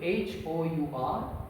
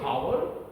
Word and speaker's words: hour: We don't pronounce the first letter. This H remains silent. We just say only hour. Have you understood? Though we write okay H-O-U-R, but we pronounce only O-U-R, hour.